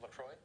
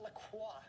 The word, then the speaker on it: LaCroix: FYI the French pronunciation ends with law this sparkling water brand founded in Wisconsin oi Chris what is Lacroix not Lacroix yes quotations a in